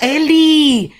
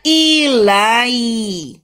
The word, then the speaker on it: Eli: Jangan dibaca Eli, bacanya ilai. Ilai. Ilai. Karena yang bawa uang bule. Kalau uang bule yang bawa maka huruf E bacanya I. Huruf I bacanya I. Jadinya ilai. Ilai.